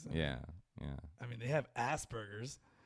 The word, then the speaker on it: Asperger's: it called Asperger's no it's a P it's not a B Asperger's what are you gonna